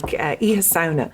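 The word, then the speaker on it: Oíche Shamhna: And Halloween originated, you pronounced it beautifully, Mike, Iha Sauna.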